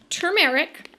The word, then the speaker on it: turmeric: look at the ingredients right here you'll see turmeric where it is spelled correctly turmeric that is it that is